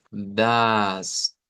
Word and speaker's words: das: Aquí solo nos encontramos que podría haber una pequeña variante de la pronunciación de esta, que la A no sea como una A corta, sino que sea una A larga. De que la escuchemos como das, das.